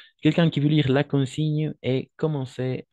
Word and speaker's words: consigne: En français, on va dire la consigne, ok? La consigne, parce que la combinaison de G et N, on va prononcer comme un N, d'accord?